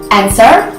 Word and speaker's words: answer: It happens when the letter S meets the letter W, and then it will be pronounced as S. For example, in words answer and sword.